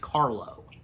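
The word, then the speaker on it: Karlo: The first name Basil you got right, of course, but the last name is pronounced Carlo.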